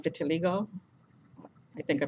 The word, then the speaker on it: vitiligo: that's white and depending the pigmented it's called vitiligo I think I pronounced that right vit i l IG oh